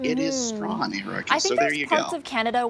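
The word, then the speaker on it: Strachan: mispronounce wellesley yeah well leslie the esplanade commonly mispronounced the esplanade is how some people say it and finally strawn not strakin it is strong so there you go canada where strawn is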